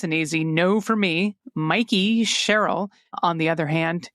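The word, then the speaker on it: Mikie: Chitterelli and the Democrat the candidates's first name is pronounced Mikey with a long I sound. Um not Mickey like the mouse.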